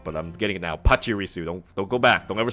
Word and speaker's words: Pachirisu: keep saying it wrong but I'm getting now Pachirisu don't go back they'll never say it the